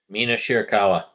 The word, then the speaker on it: Mina Shirakawa: The Mariah May Champagne Celebration with, can you say her name again for me so I don't mispronounce it again? Mina Shirakawa.